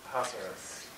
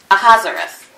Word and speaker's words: Ahasuerus: And there are two different ways that one can pronounce this. As a Xerxes, or as a Ahasuerus. Ahasuerus.